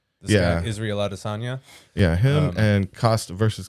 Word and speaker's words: Adesanya: Asanya is one. Asanya and Acosta, I think was. No. Put in fighter. Asanya with a Y. Adesanya, is that it? Adesanya. Yeah. Guy, Israel Adesanya.